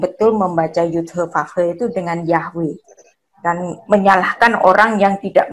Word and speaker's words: Yahweh: Kalau YHVH bunyinya Yahbe atau Yahve, bukan Yahweh. Tapi ya ada kelompok-kelompok Kristen yang merasa betul, yang merasa paling betul membaca Yud-He-Vav-He itu dengan Yahweh.